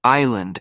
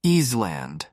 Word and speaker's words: island: because I had just confidently pronounced Island as easeland as if the S had every right to be there yeah I was that